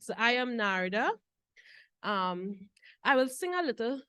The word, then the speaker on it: Narda: My name is Narda. I like to pronounce the R because if you notice this morning, she used the word nada, which is not my name.